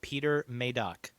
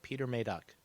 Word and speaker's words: Peter Medak: trailer and it is the guy in the trailer pronounced it peter maydock oh okay mayday peter maydock maydock so there you go you're made up uh i didn't want to i didn't want to have a bad pronunciation of his name so peter may duck there we go good